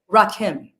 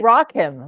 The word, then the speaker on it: Rakim: everyone mispronouncing my name his name is Rakim not Rakim raim raim mayor um so like rock him like rock like rock